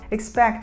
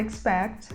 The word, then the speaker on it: expect: aguardar na fraseologia expect expect é pronunciado com um som mais próximo do e fechado e a gente Dessa